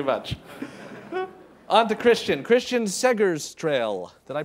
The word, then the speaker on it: Segerstråle: It's Segerstråle, if you want to pronounce it in the Finnish twang of Swedish that I speak. Segerstrail.